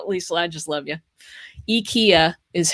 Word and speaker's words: IKEA: IKEA is how you pronounce it, by the way, if you're looking